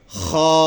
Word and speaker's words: خ: تلفظ اس کی ہم ایسے کریں گے خا خا خا. خیال کریں گے اس چیز کا کہ اس خا کو ادا کرتے وقت ہمارے ہونٹ اس میں سے گول نہ ہو جائے.